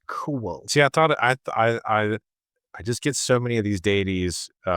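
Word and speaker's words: Fionn mac Cumhaill: And as I said, Fionn McCool, it's cool. The MH is pronounced wah in Irish, so it's cool.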